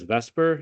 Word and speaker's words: VSEPR: Sometimes pronounced as vesper even though it's not really spelled exactly like that but what it stands for is veence shell electron pair repulsion.